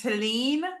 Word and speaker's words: Talene: So Talene is how you say it, like Celine, but with a T.